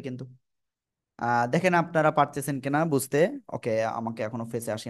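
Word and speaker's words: ب: সবাই বারবার বলতে হবে, দুই ঠোঁটের ভিজা অংশ থেকে বা অক্ষরটি উচ্চারণ হবে। ওকে, সবাই আমার দিকে তাকাতে হবে কিন্তু। দেখেন আপনারা পারতেছেন কিনা বুঝতে।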